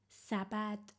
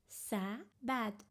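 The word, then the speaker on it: سبد: I want to write sabad how many syllables does it have sabad it has two syllables the first syll is sa how to write sa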